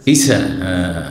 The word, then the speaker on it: ঈসা: বুঝবেন না আমাদের এলাকায় যদি বলে ঈশা মাছ বুঝবে না মোটেই বুঝবে না ঈশা মাছ না ঈসা না বলেন ঈসা ঈসা মাছ ছকে তো সক করে